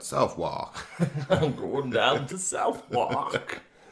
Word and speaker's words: Southwark: That's a Southwark. Southwark. What? Southwark. With the W. Yeah. Southwark. Southwark. But it's got a W in it. Yeah, it does. So it's not pronounced. No. Southwark is like Southwark.